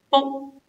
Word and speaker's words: 卜: For this character, we pronounce as bo.